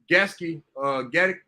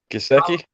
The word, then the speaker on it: Gesicki: I got Gasky, you always the tight end from Miami. I'll never say his name right. Gesicki?